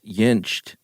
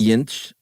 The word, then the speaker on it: Jentsch: Jentsch? That's good stuff. I put a T on the end, but the T's in the middle. Jentsch.